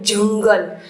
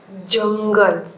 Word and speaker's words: जंगल: जैसे कि मैं ये शब्द पढ़ती हूँ जंगल, यहाँ पर बच्चों देखो अ के साथ न साइलेंट आता है, जंगल।